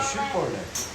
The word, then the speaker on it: 쉬볼렛: 쉬볼렛이에요. 쉬벌렛. 그런데 만약 쉬볼렛이라 안 하고 벌렛이라고 말하면 죽이는 거예요.